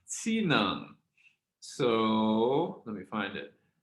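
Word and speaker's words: txiv neeb: Two oddities, along with the fact that the final consonants aren't sounded, explain why tsinung is pronounced tsinung.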